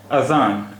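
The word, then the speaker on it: أذان: अब यहाँ हमने जाल को भी जा की तरह ही प्रोनाउंस किया है, लेकिन अरबी में इसका उच्चारण होता है अजान, अजान।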